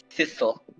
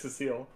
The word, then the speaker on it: Cecile: You keep saying my name wrong. No, you said Sissel. I said No, like I'm a man. Cecile. Cecile? You do keep saying Cecile, right? Yeah, it's Cecile.